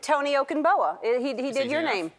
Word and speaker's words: Tony Okungbowa: liananus and this should be this is uh tony okinboa i've been saying your name wrong all this time it goes on for